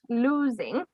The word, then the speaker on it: losing: also um this word losing even though it's spelt with an o it's pronounced lose you know like lose is the opposite of win you win something or